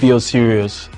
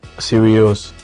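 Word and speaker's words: Sirius: I hope I got that name right be serious sorry be serious be not B serious serious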